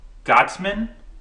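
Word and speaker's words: Goetzman: film is based on the experiences of getting godsmen I was just that's how you pronounce his name uh g-o-e-t-t-z-m-a-n he's a producer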